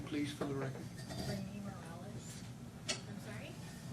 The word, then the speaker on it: Rainey Morales: Rainy Morales. I'm sorry? Rainy Morales. Can you spell it for me, please?